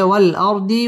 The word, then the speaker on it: والأرض: طحاها والأرض وما طحاها ওয়াও ঠোঁট গোল করে উচ্চারণ করব ওয়াল আর র পুর হবে ওয়াল আরদি ওয়া মা মধ্যে তাবাঈ এক